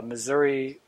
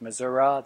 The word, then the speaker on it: Missouri: totter but also with pronunciation of course uh Missouri uh versus mura that that difference of the vowel at the end of the word things like route and